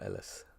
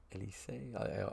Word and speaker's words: Elise: Is it Elise or Ellis? Elise.